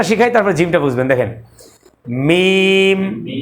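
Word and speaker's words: ميم: যে দুই শুকন অংশ এটা মিশায়ে ফেলবেন আগে মিমটা শিখাই তারপর জিমটা বুঝবেন দেখেন মিম মিম মিম মিম দুই শুকন অংশকে এক জায়গায়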